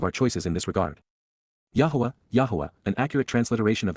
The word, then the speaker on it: Yahowah: and Prevail yah's Yahweh God's one and only name pronounced yahwah H based upon haa